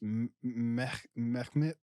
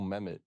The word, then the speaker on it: Mehmet: Because I'm guessing that the H is there, so I'm trying to like pronounce it. It was Mehmet. Because like you gotta say the H, right? like it's just in there, smack in the middle for some reason.